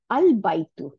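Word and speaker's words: البيت: আচ্ছা, দো ইট রিমেইন, যদিও এটা লেখায় থাকে কিন্তু উচ্চারণে আসে না, in writing, that is আল বাইতু। Here the a is pronounced, but if it is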